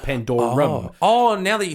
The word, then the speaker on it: Pandorum: I mentioned this a couple of podcasts ago, but I fucked it up and I said Pandora. It's called Pandorum.